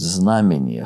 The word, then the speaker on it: знамение: Или, наверное, более точный русский будет знамение. Хотя я всегда пользовался с ударением на другой слог делал.